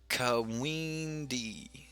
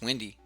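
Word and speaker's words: Kwende: Brandon Smith says, I think it would be pronounced Kawindi. Kawindi? Kawindi? Kawindi. It's windy. It's windy. This card will forever be known as windy to me. Like, it's too close. Silent K seems like it's there.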